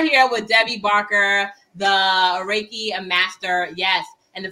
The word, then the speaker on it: reiki: with debbie barker the reiki a master yes and for those who don't pronounce is reiki like you're raking leaves reiki master yes um